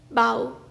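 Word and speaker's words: bow: हथियार जैसे धनुष बाण इस शब्द का दूसरा उच्चारण है बाओ यानी कि झुकना या अभिवादन करना फॉर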